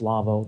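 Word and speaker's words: Lawo: speak about our sponsor lavoo now it's spelled l a wo it's a German company its pronunciation is lavoo that's the way it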